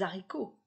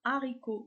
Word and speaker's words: haricots: avec le h aspiré exemple les haricots je ne dis pas les haricots je prononce les haricots séparément il n'y a pas de liaison le h de haricots et 1 h aspiré de même au singulier